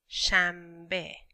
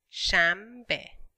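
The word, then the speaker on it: شنبه: Okay, Saturday is Shanbe. Shanbe. Easy word, only two syllables.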